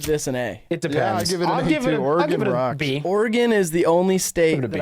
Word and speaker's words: Oregon: a not a city like a town called Oregon and it is pronounced that way and so I get them